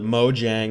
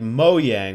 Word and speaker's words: Mojang: on this channel originally I called it Mojang where I'd hard pronounced the J in the company's name and then I kind of switched over to pronouncing it like moyang where the Jay was more like a why uh because it is a Swedish company so I I started